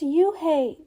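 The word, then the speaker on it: Unhei: it's spelled u n h e i it's pronounced oh it's you hey the boy said like you hey what about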